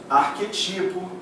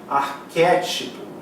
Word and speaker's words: arquétipo: A galera pronuncia prototipo, arquetipo, levedo. Não é. O certo é protótipo, ou seja, a sílaba tônica é a antepenúltima, portanto é proparoxítona e toda proparoxítona é acentuada. Arquétipo é proparoxítona, toda proparoxítona é acentuada.